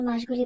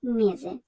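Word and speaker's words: mesi: নভেম্বরে নভেম্বর ডিসেম্বরে ডিসেম্বর এখন আমরা জানবো বছরের মাসগুলি বলার ক্ষেত্রে আমরা কোথায় কোথায় ভুল করি তেল ভাষায় মাসকে বলা হয় মেজে এখানে যদি আমরা বানানের দিকে খেয়াল করি তাহলে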